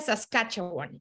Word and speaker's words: Saskatchewan: escribe la provincia y Cómo se pronuncia se pronuncia saskatchewan y Qué significa este nombre tan raro Pues